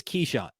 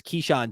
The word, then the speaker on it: Kyshawn: George by the way it's spelled it looks like kaan I did research on this to confirm it is kesan so promise I'm not saying it wrong at least according to the univ University of Miami athletic department profile page for him it's keesan George uh he is Swiss